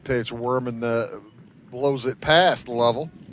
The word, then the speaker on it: Lovell: That pitch, Worman, blows it past Lovell. L O V E L L. I'm going to go with the Jim Lovell pronunciation.